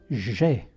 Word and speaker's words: j'ai: Dunque si pronuncia j'ai.